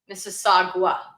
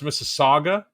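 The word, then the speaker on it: Mississauga: Missagua. Oh, it's Missaga.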